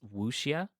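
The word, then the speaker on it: wuxia: if I'm gonna say it's wushia and it's spelled w-u-x-i-a uh so you said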